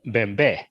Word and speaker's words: Bembe: So that's another thing that's right, and it's pronounced good. Bembe.